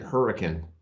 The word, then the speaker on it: Hurricane: There's a town here in Utah, and it's spelled hurricane, like the natural disaster or hurricane, but everyone pronounces it hurricane, and I don't know why.